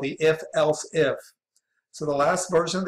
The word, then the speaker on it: elif: We're going to pronounce that else if.